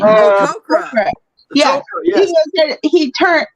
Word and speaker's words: Tok'ra: Tok'ra.